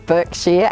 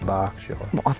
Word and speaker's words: Berkshire: There's Berkshire, and then it says Berkshire, but it's pronounced Berkshire.